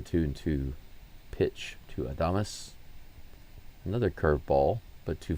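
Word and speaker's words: Adames: This is Willie Adamus. I've been pronouncing his name as Adams.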